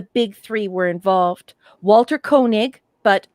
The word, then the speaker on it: Koenig: three were involved walter koenig but some people in the united states pronounce it canig i don't know why whose character chekhov stops